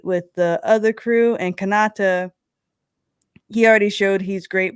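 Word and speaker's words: Kanata: romance more because then what's his name Kata is how you say it uhuh yeah so he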